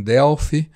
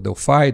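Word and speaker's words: Delphi: a desenvolver tudo em Delf ou delfi depende como vocês quiserem pronunciar né E aí nós começamos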